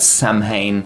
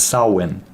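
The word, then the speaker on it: Samhain: voice acting I learned it's not Sam ha I I pronounce it that way but it's not correct it's sawin it's S I try to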